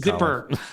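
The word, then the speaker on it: zypper: to do it more including zipper zipper you're pronouncing it right zipper like I can I can adjust gosh where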